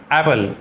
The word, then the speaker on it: Apple: इसलिए A double P एल ही क्या है? एप्पल ना कि एप्पल।